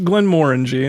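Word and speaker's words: Glenmorangie: tell us about this kyle so this is glenn moringe that's all have always said it and i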